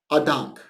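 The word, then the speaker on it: אַ דאַנק: How do you say thank you in Yiddish? A Dank.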